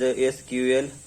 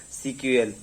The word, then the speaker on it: SQL: SQL is in short of the structural query language, and it is pronounced as SQL, sometimes or as CQL.